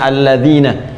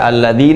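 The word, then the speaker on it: الَّذِينَ: tepat ya Fatah begini kalian ini bacanya alladziina kita tidak baca Alladin uh enggak ada aladini selalu nah magnit tetap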